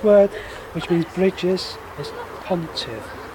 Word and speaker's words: pontydd: Okay, the sixth word, which means bridges, is pontydd. Pontiff.